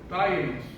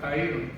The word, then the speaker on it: taínos: Porque los indios, particularmente los taínos, es como se pronuncia realmente, no es taínos, taínos.